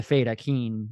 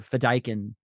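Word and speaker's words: Fedaykin: interesting because he was one of the feden or fedin I think is how it actually supposed pronounced there's a lot of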